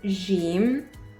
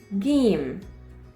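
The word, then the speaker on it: جيم: it is pronounced as Jim we in Egypt pronounce it as game like Go in English okay now it's time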